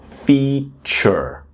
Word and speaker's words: feature: And then feature. I know you can see the letter A, F-E-A-T, feature, but it's really like the word feet, like hands and feet.